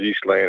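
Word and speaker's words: Ghislaine: speak French it is in English as you would you would spell it almost as a zhe or a jhe okay eastling it's because you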